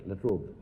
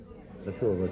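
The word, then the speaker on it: La Trobe: I'm deeply grateful to the university, the LaTrobe, do I pronounce it right? LaTrobe. LaTrobe, okay.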